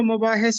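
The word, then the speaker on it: مباحث: एक तनकीदी किताब है मबाहिस, जो कि डॉक्टर सैयद अब्दुल्ला ने लिखी है। अक्सर लोग इसको मुबाहिस पढ़ते हैं, जबकि ये मीम पर ज़बर है, मबाहिस।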